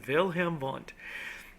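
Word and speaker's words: Wilhelm Wundt: okay it looks like William W but it's pronounced vilhm V and vilam V is considered the father of psychology he's the father he's he's your daddy okay if somebody says who's your daddy that's vilam vont okay he's the daddy of Psych he's the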